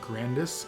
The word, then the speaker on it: Grandis: Their name is pronounced grandis in English, but is spelled like